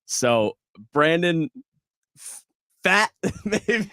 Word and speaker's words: Pfaadt: I don't even know how to pronounce name. his name. So Brandon Fat, maybe it's hard. We'll just say it's Pfaadt.